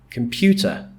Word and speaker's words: computer: The stress, which is the strongly pronounced part of the word, like in computer, then the stress is on pew, computer.